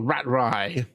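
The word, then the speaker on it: Ratraii: The next one out is Rat Rail or Rat Rye. Literally how it's spelled.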